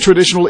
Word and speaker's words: traditional: Are shunning traditional industries. Are shunning traditional industries. Traditional. TR 발음은 TR 이래야죠. TR. Traditional. Stress는 additional 할 때 주어지기 때문에 additional 강하게 됩니다.